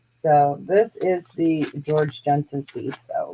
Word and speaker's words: Jensen: Not George Jetson. Jensen.